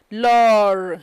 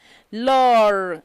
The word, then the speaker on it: l'heure: L'heure. Don't forget R. Wherever you see it, pronounce it distinctly. L'heure. And you pronounce it elegantly.